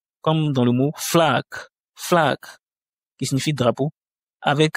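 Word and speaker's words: флаг: Ensuite, on a la lettre F comme dans le mot flac. flag qui signifie drapeau avec un accent tonique comme sur le A.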